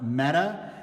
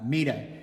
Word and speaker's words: Meta: of her name um until recently I think I was among those calling her meta uh War Fuller um but I just watched a wonderful PBS uh documentary online which I will include uh the link to uh in the Facebook comments and she's referred to there as uh MAA and so I I